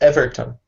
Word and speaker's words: Heverton: Heverton? Yes. It's Everton. Everton. Yes. Okay. Yeah. Nice. Like the soccer club.